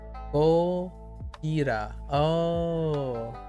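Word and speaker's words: ゴジラ: Gojira.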